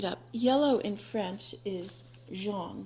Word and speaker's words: jaune: Yellow in French is jaune, Jaune. I don't know how to pronounce it.